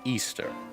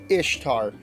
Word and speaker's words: Ishtar: impressive at any rate Ishtar is Ishtar pronounced Ishtar there's not any evidence it was ever pronounced Easter the closest we can get on an anthropological scale is maybe east har but that's the best you can get generally speaking I expect